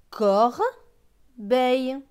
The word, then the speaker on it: corbeille: B avec E, I, L, L, E. E, I, L, L, E se prononce eille. Donc B et eille, beille. Donc ce mot va se lire corbeille.